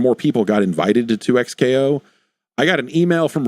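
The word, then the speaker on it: 2XKO: you played any any 2x KO?" I guess is that is the right way to pronounce it. It is not double KO, which would have been a more fun name.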